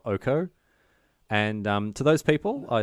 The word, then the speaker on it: Oko: get angry comments about how we pronounce it Oko and not Oko.